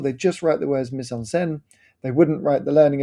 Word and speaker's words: mise en scène: Sometimes you'll probably hear me say mise en scène um being British and butchering the language, but it's a French term and I believe it's pronounced mise en scène.